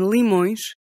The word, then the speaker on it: limões: First, at the end of a word. Like in limões.